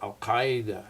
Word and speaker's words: al-Qaeda: I always pronounce that word wrong because I'm not so good at my Arabic. I should say, well, al-Qaeda.